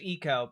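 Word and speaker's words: Ico: Also, I do know that the name of the video game IO is supposed to be pronounced Eco, but I refuse to say it right on principle.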